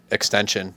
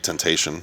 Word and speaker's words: Tentacion: Is that how you pronounce it? XXX Tentacion. Yeah. Extension is, I think, how you're supposed to pronounce it, but I can't Oh, pronounce things very well phonetically.